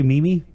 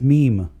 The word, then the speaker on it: meme: correct you on there but did you say mimi yeah was it mimi it's pronounced meme but a lot of my more friends think